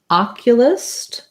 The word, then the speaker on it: oculus: syllable stress surgeon and oculus we have this o says ah it's stressed ah and then we have